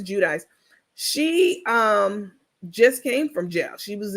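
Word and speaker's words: Giudice: Jersey one Teresa judis or however she pronounces her name depends on the day she's GNA said judis Jud jichi but it's Teresa judis she um just came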